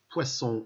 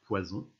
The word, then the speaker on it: poisson: Poisson, on n'oublie pas les deux S, sinon ça fait poison.